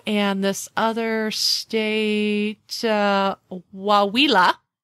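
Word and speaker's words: Coahuila: this other State uh waa it's spelled Co a h u i l a so yes the Mexican states of Chihuahua Durango and waa it is it is actually waa it is actually the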